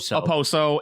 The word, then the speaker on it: Okposo: the year that the Okposo, right? Is that how you say it? I don't know. I don't know. Watch hockey. K is silent. Okay. Okposo and O'Reilly.